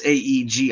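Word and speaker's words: Ægir: You see this again with Aegir and Raun, or it's spelled strangely, but it's Aegir.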